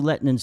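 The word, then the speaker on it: Lehtinen: How do you pronounce his name? Lettinen, yeah.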